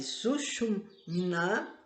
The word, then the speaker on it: Sushumna: A Sushumna, vou falar assim, Sushumna, porque o M é mudo, é o grande canal nervoso, localizado no centro da medula espinhal.